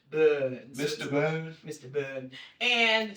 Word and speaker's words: Bern: And I was in Bern. And, that's how they say it. Bern.